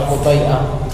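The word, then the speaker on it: الحطيئة: Falamma madahahum al-Hutai'ah, bacanya al-Hutai'ah.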